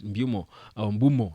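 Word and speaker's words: Mbeumo: the pitch but already in the interview that Mumo Bumo that's the right pronunciation of his name I think according to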